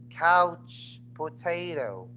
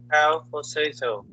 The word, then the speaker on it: couch potato: No, you pronounce this one as couch potato. cow potato, Again, couch.